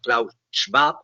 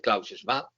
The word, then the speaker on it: Klaus Schwab: libros de este señor Klaus Schwab, lo pronuncio a la alemana, el Klaus Schwab, en donde ya hacía